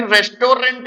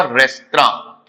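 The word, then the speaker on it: restaurant: Hotel नहीं, चलो कहीं रेस्टोरेंट में खाते हैं, ये भी गलत प्रोनाउंसिएशन है। इसे कभी भी रेस्टोरेंट मत कहिएगा। जो करेक्ट प्रोनाउंसिएशन बेटा इसका होता है वो होता है आपका रेस्त्रां।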